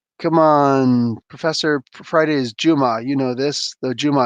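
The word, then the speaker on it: جمعة: For anybody who doesn't know, Juma, the proper pronunciation, but Juma means Friday in Arabic, and it very specifically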